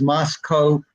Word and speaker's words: Moscow: very early on that it's mosco to rhyme with Costco rather than like the town Russia oh wow I guess